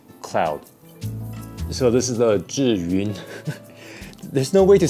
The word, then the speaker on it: Zhiyun: So the pronunciation is Zhiyun. This is a really funny name because for foreigners, this is basically impossible to pronounce. Zhiyun. Zhiyun. Zhiyun. Zhiyun. Zhiyun. Disgusting. In English, you don't really have that sound.